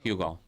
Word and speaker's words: Hugo: Hugo In Spanish, Hugo in English. Okay. But yeah, the H is silent, guys.